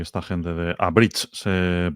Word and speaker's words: Abridge: y esta gente de Abridge se pronuncia. Vale, Lo acabo de buscar, no tenía ni idea. Pero Abridge, que significa abreviar. em, pero bridge se pronuncia igual que puente, bridge.